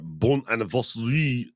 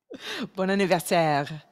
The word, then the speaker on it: bon anniversaire: Well, how do you say it? I don't like being close. I like being right. Bon anniversaire. Oh, bon anniversaire.